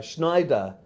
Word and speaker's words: Schneider: got the nickname uh Schneider which rhymes with spider a tailor in German